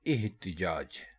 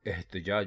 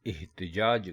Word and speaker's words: احتجاج: درست لفظ ہے احتجاج، یعنی الف کے نیچے زیر ہے. ہم میں سے بہت سے اس کو احتجاج بولتے ہیں، یعنی الف کے اوپر زبر لگا کر اس کو بولتے ہیں. تو یہ غلط ہو جاتا ہے. اس کو بولتے یا لکھتے وقت ہمیشہ آپ الف کے نیچے زیر لگائیں گے، یعنی اس کو احتجاج کر کے بولیں گے، احتجاج نہیں بولیں گے، کیونکہ احتجاج کوئی لفظ نہیں ہے.